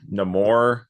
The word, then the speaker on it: Namor: I'm excited except for no more because that's what his name is now right no more instead of Namor they say every I